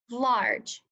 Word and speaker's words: large: is large what word large good this one is tricky because the G is not saying sound that usually sets the Chi is saying a J sound too large another thing